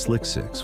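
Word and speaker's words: SLC-6: Space Launch Complex 6, pronounced Slick 6, was originally built for the Manned Orbiting Laboratory program and then extensively modified for space shuttle operations.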